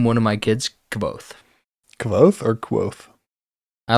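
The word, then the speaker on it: Kvothe: Quoth is not as cool to me, And, actually, and I know that's how you say it, but to me, no. I knew when reading it that it was Quoth.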